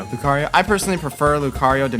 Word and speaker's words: Lucario: Lucario? Lucario.